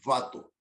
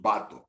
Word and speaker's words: vato: Primero, porque no pronunciamos la V. No decimos vato, decimos vato, con B de burro.